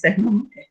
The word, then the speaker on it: Sussman: Y a mí me gusta la propuesta teórica que ellos tienen, sobre todo la propuesta que hace Steve Sesman, siempre digo Sussman, es Sesman, la pronunciación correcta.